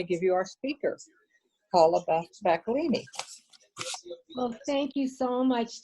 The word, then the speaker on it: Bacolini: Bacolini, yes.